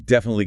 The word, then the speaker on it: definitely: I'm definitely going. Definitely. Four syllables. That middle I can be soft like a schwah. The final e is often silent.